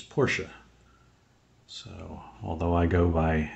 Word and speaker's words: Porsche: Many people say Porsche. And I'm gonna go drive away in my Porsche, and I always ask them front or back Porsche. But the proper pronunciation of the car company is Porsche.